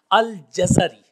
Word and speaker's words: الجزری: کی کوشش کریں گے۔ الجزری، اس کی جیم کے اوپر زبر ہے اور زا کے اوپر بھی زبر ہے، جزا، اور پھر اس کے بعد را کے نیچے زیر ہے، الجزری۔ بعض احباب اس کو الجزری پڑھتے ہیں، یہ درست نہیں ہے، بلکہ الجزری جو محدثین کرام نے اس کا تلفظ بتایا ہے وہ ہے الجزری۔ اب یہ جو الجزری